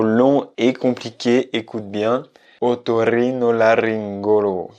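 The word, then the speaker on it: otorrinolaringólogo: est intéressant du point de vue de la prononciation. C'est un mot long et compliqué, écoute bien. Otorrinolaryngologo. Otorrinolaryngologo.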